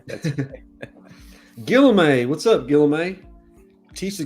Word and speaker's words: Guillaume: It's pronounced Guillaume, and you could say Barnaby, but I'm presuming it's Barnabé.